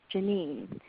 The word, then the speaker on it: Janine: Versus you could try names with the opposite pattern, like Michelle or Janine, where the stress is on the second syllable.